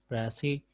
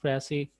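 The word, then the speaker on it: précis: It is pronounced as pressy writing, and the definition of pressy, as it is given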